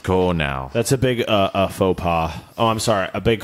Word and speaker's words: faux pas: you you must go now that's a big faux pas oh I'm sorry a big Fox pass white sari we're not saying thanks pretentiously right